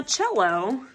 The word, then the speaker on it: cello: course the cello now cello is pronounced like it has a CH but it is not spelled that way it's spelled c e